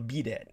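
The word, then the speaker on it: bidet: korea or japan has what's called a b-day it's it's spelled b-i-d-e-t you can look this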